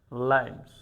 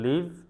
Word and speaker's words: live: লিভ আর লাইভ বানান spelling একই, কিন্তু শুধুমাত্র উচ্চারণের কারণে তার অর্থ আলাদা হয়ে যাচ্ছে। অর্থাৎ আপনি সরাসরি যেটা দেখে থাকেন তখন সেটাকে বলেন আপনি লাইভ, আর পাস করা বোঝাতে আমরা মূলত বলি লিভ।